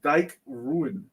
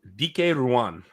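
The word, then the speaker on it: Dike Ruan: the cover artist is Dyke ruin oh I'm gonna drink again because I misspell I mispronounced his name but you're also gonna drink because you mispronounced it the cover artist's name is DK Ruan and the reason why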